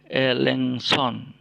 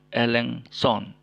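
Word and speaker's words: ἔλεγξον: Ini ada Elengson. Elengson artinya tegurlah. Ya, Elengson menegur ya. Oke. Elengson. Ya, jadi si itu K-nya tidak terbaca lagi, tidak diucapkan lagi. Jadi cukup NGS. Elengson.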